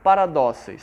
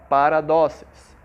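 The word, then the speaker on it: παράδοσις: O termo tradições, no original no grego, ela é pronunciada dizendo paradóceis, certo? A palavra tradição aqui no grego, no original do grego, é paradóceis.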